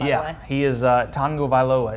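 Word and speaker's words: Tagovailoa: yeah he is uh Tango VOA is how you say it that's there's like a pretend n in there uh Naji Harris the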